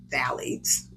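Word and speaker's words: phthalates: what's that word again the pH is silent phalates phalates right valades pronounced valades are chemicals that make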